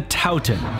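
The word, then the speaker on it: toutin: Wait, how did I just pronounce it? No, dootin', it's a tootin'. No, it's a Towton.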